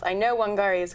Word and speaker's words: Wangari: her name again I hope I'm going to pronounce I know wangari is correct I think I think you pronounced